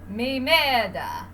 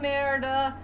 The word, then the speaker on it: Merida: I gotta pronounce this young lady's name is Mimeda, or Mara, the Scottish name. Yeah, okay, strike that, reverse it. It's a story about a young woman named Merida who is trying really hard to find a